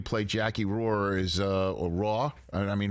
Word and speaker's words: Roar: The way you play Jackie Roar is or Raw. I mean, how do I pronounce it really? I mean, how do you Roar? Roar.